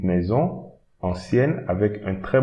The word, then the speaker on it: ancienne: Ancienne, so you pronounce the N before. Ancienne.